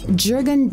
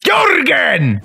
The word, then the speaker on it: Jurgen: Jürgen Dexon. Jürgen. His name is pronounced Jorgen!